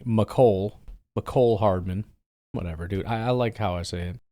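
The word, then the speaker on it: Mecole: I'm a little surprised by Mikle, but excited. Or excuse me, Micole.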